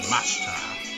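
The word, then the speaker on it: ました: But it's always pronounced like Mashita instead of Mashita. I mean, maybe you can pronounce it that way, but I always, like, in my course, just hear it as Mashita. Like the I over there, or the E, I guess, is kind of silent.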